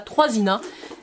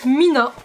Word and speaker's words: 3INA: de la marque Mina alors ça c'est'écrit troisina on est d'accord j'ai toujours prononcé ça trisina mais je viens de comprendre que ça s'appelait Mina la marque Mina troisina je vous montre